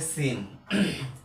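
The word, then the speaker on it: س: তাহলে প্রথমে আছে সিন। সিনের উচ্চারণটা একদম চিকন করে পড়তে হবে।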